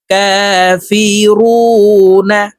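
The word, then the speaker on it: كَافِرُونْ: জবর না কাফি রুনা রু এখানে তিন আলিফ টানে নুনকে সাকিন করতে হবে কারণ মদের হরফের বামের হরফে ওয়াকফু হইলে মধ্যে আরজি তিন আলিফটা নিয়া পড়িতে হয় তো এই রুকে তিন আলিফ টেনে নুনকে সাকিন করে ফেলবো কাফিরুন কুল ইয়া আইয়ুহাল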